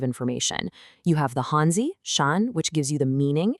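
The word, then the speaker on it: 山: The pronunciation is shan.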